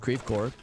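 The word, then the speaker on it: Creve Coeur: and St Louis in particular we love to mispronounce French words so it's not crev qua in St Louis the suburb is called creep Cor it's um not hold on what's the other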